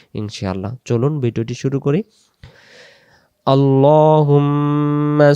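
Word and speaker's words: اللّٰهُمَّ: এজন্য আমরা উচ্চারণটা করব আল্লাহুম্মা মি তাসদিদ গুন্না করে পড়তে হয়।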